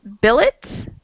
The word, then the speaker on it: billet: It's pronounced billet, and it's the lodging for a soldier or a student, like a private home. It's not a very common word, but it's important for pronunciation to compare it with the other words. So, billet does not rhyme with ballet.